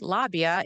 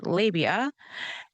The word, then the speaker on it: labia: And if I can on point say, uh, you pronounced that incorrectly, it's not lobbyia, it's labia, they lose track and I take control back.